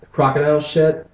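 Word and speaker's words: krokodil: you than marijuana ever could be and that crocodile well I don't know how to how to pronounce it no no you're saying it right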